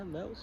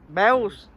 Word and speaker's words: Meols: Yeah, Meols. Meols. Meols, yeah. Meols. That's how you pronounce it. Meols.